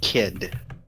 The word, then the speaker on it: Kidd: He says, I'm Lieutenant Commander Kidd. Yes, Really? Melma busts up laughing. let the irony sink in. Really? Yes. Kidd is spelled with 2 D's. Thank you. Sure it is. But still pronounced kid? Yes.